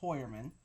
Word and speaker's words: Heuermann: I found out it's not here but it's hoyerman that's how you pronounce his name on Rex horerman's home his